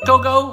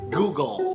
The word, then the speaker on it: Google: Gogo. Google. Gago. No. The correct way to say it is Google.